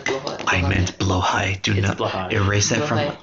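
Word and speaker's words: Blåhaj: You can get more stuff for Slutty Blahage. I could get way more stuff for my slutty We bahage. love slutty bahage. It's true. Yes. Bless you, slutty. Pronounced Blohai.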